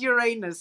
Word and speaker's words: Uranus: which we had said would be is it Uranus or we doing okay we're talking about Uranus in in Taurus right Uranus so um the correct pronunciation is Uranus unfortunately for those people out there that can't